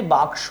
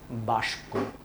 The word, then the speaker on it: বাক্স: আর এখানে বাক্স, প্রথমে ছিল ক, পরে ছিল স, কেউ কেউ বলে এটাকে বাস্ক।